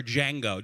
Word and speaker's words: Django: even call her seer I call her Django do you understand what I'm saying the D is silent I honestly think my